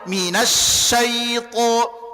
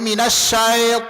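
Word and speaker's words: مِنَ الشَّيْطَانِ: Minasyaitan. Minasyaitan. Jangan lembutkan saja tapi bunyikan dia ke huruf I. Kesalahan umum yang sering terjadi banyak yang membacanya menjadi minasya. Nah, ini gak boleh tamam.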